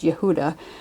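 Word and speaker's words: יהודה: The letter He is connected to the tribe of Judah, which is pronounced Yehuda, and it is the tribe from which the name Jew or Jewish comes.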